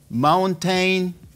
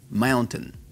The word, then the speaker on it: mountain: no es difícil montaña como pronuncias montaña en inglés si dijiste mountain no te van a entender los vas a perder no van a saber de qué estás hablando se dice así mantén mount en lo puedes